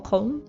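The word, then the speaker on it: Köln: time to head to cologne or col if you're using the German pronunciation technically this was only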